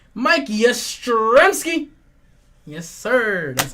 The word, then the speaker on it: Yastrzemski: Mike Yastrzemski. Mike Yastrzemski.